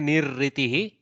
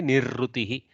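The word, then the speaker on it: निरृतिः: So, Nirritihi, they will say Nirritihi. South Indians generally say Nirrutihi. Neither U nor E, somewhere in between is the correct pronunciation, which is Nirritihi, Nirritihi, like that, okay.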